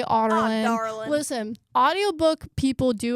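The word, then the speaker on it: Adarlan: So pretty much all of us book readers pronounce it like a darling or like some version of that. I heard the audiobook, and this was a big thing on TikTok. We heard the audiobook for the first time, us book readers, and it's pronounced like Otterlin.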